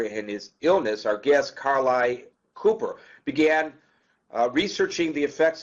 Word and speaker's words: Carleigh: It's Carleigh. Carleigh, like Carly Simon.